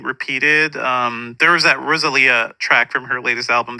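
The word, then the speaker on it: Rosalía: know know how to I always say Rosalia in my head I used to say that but it's Rosalia um no I'm the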